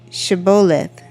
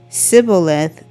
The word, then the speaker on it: Shibboleth: If he replied no, they said, "All right, say Shibboleth." If he said Sibboleth, he could not pronounce the word correctly.